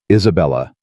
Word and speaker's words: Isabella: Isabella. He said it the Italian way. All four syllables present and unhurried.